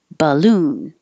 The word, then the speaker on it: balloon: La, lantern, balloon. It looks like an A, ba, but it's not. It changes to b, and that means it also gets shorter duration.